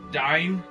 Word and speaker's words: Dyne: The only one opposed to this is Dine. I've never known how to pronounce that guy's name. The way I pronounced it was it's similar to the way Cyberdyne Systems Model 101 from the Terminator.